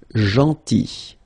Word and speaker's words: gentil: Then, gentil. So remember this final L is not pronounced. Gentil.